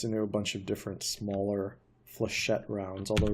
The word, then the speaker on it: flechette: missile I call it the flechette design you pronounce it flechette missile on sexual you've got a normal missile